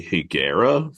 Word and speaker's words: Higuera: I think I'm gonna go with Teddy Higuera from Mexico.